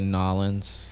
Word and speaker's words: New Orleans: instance i i enjoy new orleans but you know it's tough to live there or the locals say nollens yeah yeah but that